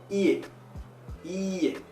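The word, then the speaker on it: いいえ: Non, non, non, non, non, non, c'est ie, ie, I-I-E. Parce que I-I-E ça veut dire non, mais I-E ça veut dire maison.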